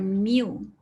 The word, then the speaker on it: mu: So dia Google, saya tak Google, dia Google untuk saya, ejaan dia macam ni, it's just mu. So that is your mu. Mu sebutan dia macam mu.